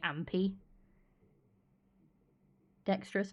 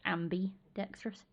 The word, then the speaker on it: ambidextrous: I say it wrong all the time because I end up saying ampi dexterous, not ambi dexterous.